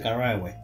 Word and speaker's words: Carahue: Se pronuncia Carahue. Sí, no es Carahue.